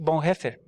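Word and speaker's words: Bonhoeffer: nenhum que o diga um teólogo chamado Dietrich Bon heffer é essa pronúncia mesmo tom tirich Bon hefer tá ah é porque um dia eu falei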